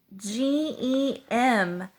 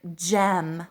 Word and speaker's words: gem: that still do so that would be like GE M that would be the word gem like a ruby or a really cool shiny